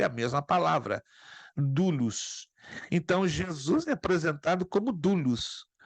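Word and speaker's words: δοῦλος: Grego é a mesma Duos se escreve douros do u l o s mas se pronuncia Duos então a palavra escravo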